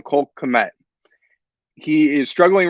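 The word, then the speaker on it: Cole Kmet: on offense has been cold Clement uh I said his name wrong Cole commit he is struggling right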